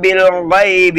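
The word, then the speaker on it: بِالْغَيْبِ: யூமினூன பில் கைபி அதாவது பி பை அதாவது பக்கத்துல இருக்கிற அலிஃப் சைலண்ட் ஆயிரும் ஓகேங்களா.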